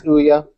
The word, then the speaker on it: Ouya: No, it's Ouya. And then we have this new one today called the Game Stick. So they're Kickstarter projects, and I think the Ouya blew like most Kickstarter records out of the